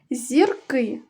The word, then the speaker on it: зірки: одна коли їх багато зірки зверни увагу зірка наголошений перший склад зірки наголошений другий склад перше слово ручка багато